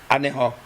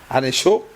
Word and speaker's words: Aného: nom Petit Popo en Aného. Et le Khe, là-bas, dans l'allemand, ça s'écrit avec CH et que les Français prononcent Anécho, alors que bon, les Allemands, Anécho, écrit avec CH.